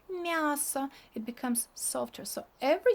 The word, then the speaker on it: мясо: Look, it's not ya here. It's kind of this y goes to m, and m becomes softer, and we pronounce it like мясо.